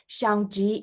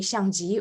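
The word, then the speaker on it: Xiangjing: my first name uh so my name is kind of pronounced like um xiangjii in english you can call me shangji or anything similar to that i wouldn't mind actually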